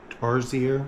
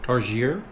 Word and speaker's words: tarsier: Tarsier. Tar. Tarsier.